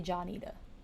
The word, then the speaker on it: Juanita: sweet Johnita instead of Juanita, because honestly, if my second grader looked at that, she would say Johnita. She wouldn't say Juanita with a W. She would say Johnita with a J.